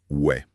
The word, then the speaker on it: ouais: Dans le langage familier, le terme le plus courant, c'est « ouais ». Ouais. Cela s'écrit avec les lettres O, U, A, I, S, mais la prononciation est simplement « ouais ».